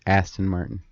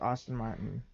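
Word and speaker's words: Aston Martin: Astin Martin Austin Martin it's ason Martin I pronounce it Austin Martin well you pronounce it wrong maybe maybe not I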